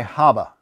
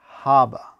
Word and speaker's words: Haba: that's abba this is haba chief you know you're not supposed to pronounce the h in spanish this is a spanish game